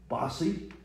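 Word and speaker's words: Vophsi: From the tribe of Naphtali, Nethbai, the son of Vophesi, or Bossi is another way of pronouncing it.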